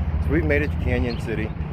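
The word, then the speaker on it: Cañon City: we've made it to canyon city it's a cannon city or canyon city it's spelled it's spelled cannon city but i've heard a lot of people calling it canyon city we've made it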